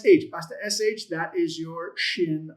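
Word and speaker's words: שין: It's not sin. It's shin as in should or you know shadow or uh what's another sh word?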